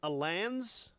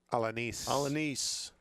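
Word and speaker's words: Alaniz: And I think I'm saying this right. Ruben Alans, is that correct? I believe that's correct. A-L-A-I-N? No, I'm not saying it right. Alanis.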